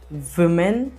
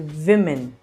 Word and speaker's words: women: One is woman and many are women. Yes, women. We don't say women, we say women.